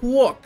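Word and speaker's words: Płock: Apparently, it's not Plok, it's Pwok, like a W, right?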